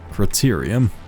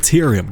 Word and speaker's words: cerium: because that's objectively wrong copper Criterium Criterium that's not it's cerium God damn it I've been pronouncing it so long it's like the official name